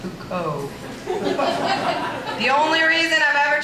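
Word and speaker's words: Foucault: understand Judith Butler I once tried to reference fault at a party to make myself sound smart and and my friend politely corrected me and said it's pronounced H Co the only reason I've ever tried to read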